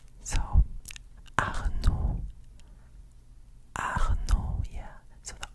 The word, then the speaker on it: Arnaud: In French, the D is silent. It's silent. So you don't pronounce the D. So you would say something like Arnaud. Arnaud, yeah.